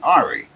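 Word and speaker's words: Henri: I pronounced it Hurricane Harry, but it was really Hurricane Ari.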